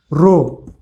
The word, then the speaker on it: rho: रो याला म्हणायचं रो, RHO. रो RHO असं स्पेलिंग आहे, RHO.